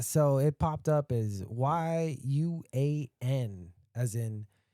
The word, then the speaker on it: yuan: So it popped up as y u a n as in yuan or you two quick syllables you you in you you in or you out you in you out.